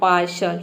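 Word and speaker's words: partial: यहाँ पे टी का श होगा और AIL हो जाएगा अल, तो पूरा हो जाएगा पार्शल।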